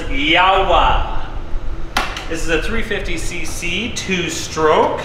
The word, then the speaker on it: Jawa: This is our 1964, you would think it's pronounced Jawa, but I've been told it's Yawa.